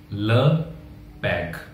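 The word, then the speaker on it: le père: The father, father जो कि masculine है तो उसके लगेगा ल, ल पैग, ल पैग। जहां भी आर आएगा आप उसे घ प्रोनाउंस करिए, घ, पै घो।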